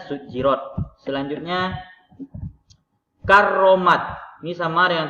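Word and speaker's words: سُجِّرَتْ: Ini tulisannya rat tapi dibaca rot. Ingat ya Bapak, jangan nanti dibuat kalau ada latihan bacanya sujjirat, dia buat di sini bukan A tapi O, sujjirat. Itu salah ya Bapak semua. Yang betul adalah rat. Tulisannya sujirat, bacaannya sujirot.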